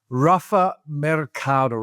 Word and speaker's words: Rafa Mercado: Thank you and congratulations on pronouncing my my name very well.